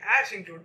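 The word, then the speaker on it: #include: Yeah, see, It's pronounced like ash include. We know the pronunciation of ash include. Ash include.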